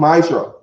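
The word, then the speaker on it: מעשר: It means 10 in the Hebrew and it's pronounced ma'ishra.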